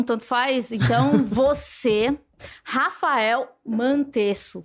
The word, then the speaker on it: Mantesso: Então, você, Rafael Mantesso. Falei certo seu nome? Uhum. Ou é uma pronúncia alemã também, que eu não vou saber? Não, é italiano, é normal.